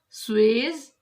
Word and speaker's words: Suez: Pronunciation Suez Canal.